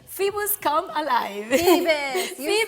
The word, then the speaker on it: Phoebus: Phoebus, you said it right.